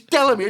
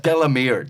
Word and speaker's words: Delamere: Even I was getting going, it's Delamere. It's only 3 fucking syllables. It's Delamere.